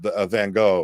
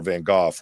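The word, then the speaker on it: Van Gogh: its value you know uh van go or vanoff wherever you're from how you want to pronounce it that kind of stuff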